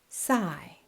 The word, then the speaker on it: sigh: This is a strange looking word we pronounce it sai sai and the phonemic symbols are above sai It means when we breathe out slowly making a noise.